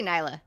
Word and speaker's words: Nyla: All right, let's go down to Nyla or Neela, however you say it. Yeah, I'll say Nyla because Okay. open syllable. We learned about that.